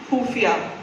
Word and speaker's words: खुफिया: क्या बात है, लेकिन मैं तब्बू मैम आपसे सीखना चाहता हूँ, ख कैसे कहा जाता है, फ्रॉम दी एपिग्लॉटिस कहते हैं ना, वो मुझे बड़ा अच्छा लगता है।